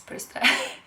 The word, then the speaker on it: Bristol: amazing rolling it from Bristol or as Americans tape Lystra whoo but it's Bristow in case you're American and you were wondering how to pronounce it and she's she